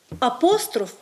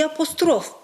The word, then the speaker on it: апостроф: які мають подвійні наголоси тому правильно казати завжди і завжди апостроф і апостроф хоча Ніхто з нас